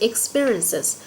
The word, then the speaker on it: experience: Từ thứ hai cô có là từ experiences. Và khi nó là số ít cô sẽ đọc là experience. Nó sẽ nhấn ở âm tiết thứ hai.